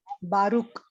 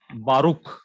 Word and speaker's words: Baruch: Can anyone pronounce this? Baruch. Baruch. Very good. Baruch.